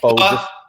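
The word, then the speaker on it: phở: Well, the real pronunciation is pho. Yeah, we all know. But I just call it pho.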